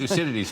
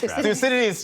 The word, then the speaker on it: Thucydides: Thucydides. Thucydides, yes.